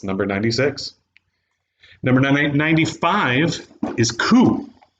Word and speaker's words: Coup: Number 95 is Coup, or Coop, if you don't know how to pronounce the word coup.